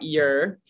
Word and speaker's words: Youre: Well, Jillian, it's pronounced Youre. I made it Youre with the Y-O-U-R-E, so it'd be easier to pronounce, at least close enough. But my actual last name is U-R-E. Pronounced your.